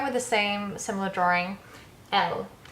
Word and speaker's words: elle: So going with the same similar drawing, Elle, pronounced like Elle Macpherson.